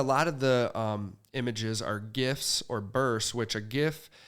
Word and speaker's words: GIF: I always call it I call it gif yeah me too I always call it a gif it's a great graphic image file right so I so it's a hard G so I use a